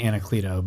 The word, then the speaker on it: Anacleto: Did I pronounce that right, Kris? It's actually Anacleto, but Anacleto.